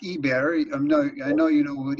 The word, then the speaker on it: Eber: It's pronounced Eber.